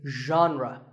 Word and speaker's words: genre: word how would you say it the correct pronunciation is genre pay attention to the first sound it's like